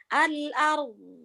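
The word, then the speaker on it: الأرض: Tapi Jadi jangan bacanya, kebanyakan kita kalau baca al-ard disukunkan, diberhentikan pasti cuma al-ard. Nggak boleh. Sukun harus kedengeran. Al-ard. Alifnya jangan jadi al-ard.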